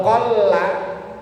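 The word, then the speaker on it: قلّ: Kalau qolla lamnya pakai tasdid artinya sedikit.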